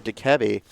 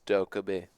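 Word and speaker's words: Dokkaebi: With the Jackal, the Deimos, and the Dekebi. Don't say it like that. It's Dokubi. I'll fight you to the death over that name.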